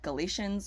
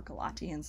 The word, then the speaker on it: Galatians: There's Gallo-Hellenism from the Celtic Galatians, or Galatians is probably how it would have been pronounced.